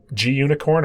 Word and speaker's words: Gunicorn: and some stuff using, I don't know if it's pronounced G-Unicorn, or I tend to read it as Gunicorn because I find that word hilarious. But that's the web server stuff.